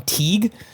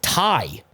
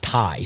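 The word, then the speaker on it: Tighe: We we settled on Teague. Uh I was told it's Tai. T I G H E out there is just Tai.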